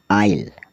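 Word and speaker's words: isle: D Iceland मतलब टापू आई एस एल ई आइल आयल मतलब बहुत से टापू वी आई एस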